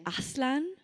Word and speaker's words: Aslan: is Turkish for lion, but he pronounced it Aslan because As is Norse for God. So it's a god lion.